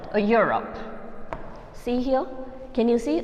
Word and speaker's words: Europe: a u sound correct so a uniform or europe yeah your sound okay even though it's beginning with the with the verbal letter europe see here can you